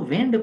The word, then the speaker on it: wind: और जो हवा वाला है वो विंड पढ़ेंगे उसे, WIND, स्पेलिंग फिर सेम है, वाइंड की और विंड की, विंड हवा और वाइंड घड़ी में चाबी देना।